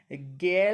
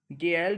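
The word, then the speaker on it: gelled: गेल electrolyte. किसका? गेल्ड electrolyte. ठीक है, इलेक्ट्रोलाइट मिला हुआ यहाँ पे, ये उच्चारण है, बाकी इसका गेल्ड बोलेंगे। ठीक है, ये ऑप्शन है इसका राइट आंसर हो जाएगा।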